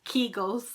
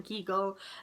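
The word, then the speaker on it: Kegel: talking about the famous Keel and I think I'm saying it wrong kull kull I think of eagle and then keagle so yeah so don't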